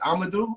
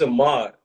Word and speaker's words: Ahmaud: Is it Amadou? I feel like it's Amadou. It's a mod. I believe it's a mod Aubrey.